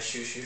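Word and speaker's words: Xiu Xiu: from Outkast, at a Shoo Shoo show one time. What's a shoo-shoo show? Do you know the band Shoo Shoo? No. It's spelled Xiu, Xiu.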